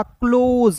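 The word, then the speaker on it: close: ओ के रूप में एस का उच्चारण यहां पे ज के रूप में होगा क्लोज क्लोज नहीं पड़ेंगे इसे क्या पढ़ेंगे दोस्तों?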